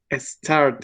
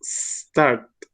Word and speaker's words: start: Trata de omitir el sonido de E. No es start, es start.